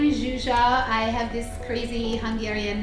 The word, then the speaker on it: Zsuzsa: app to follow um so my name is zuzia i have this crazy hungarian name so if you can't pronounce it you can just call me c